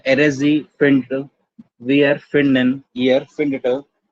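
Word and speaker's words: findet: हो रहे हैं, लेकिन ये जो एरजी और ईयर वाला है, इसको हम कैसे बोल रहे हैं? फिंडट, फिंडट। ये जो है प्रोनाउंस करने में बहुत ज्यादा मतलब मुश्किल है, उसको प्रेशर लगता है प्रोनाउंस करने में। इसलिए प्रोनाउंसिएशन को इजी करने के लिए हम लोग इन दोनों में एक्स्ट्रा टी ऐड कर देते हैं, तो ये हो जाता है फिंडेट। प्रोनाउंस करने में सिंपल।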